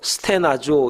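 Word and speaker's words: στενάζω: 이 탄식이라는 말은 헬란 말로 스테나조 이렇게 발음을 합니다.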